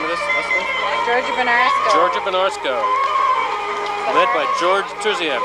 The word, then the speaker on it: Gergebunarsko: Really not the right name because it's not, in Bulgarian it would be Gergebunarsko.